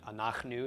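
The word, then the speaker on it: אנחנו: front of me but anak nu is the pronunciation regardless an ox new means we for us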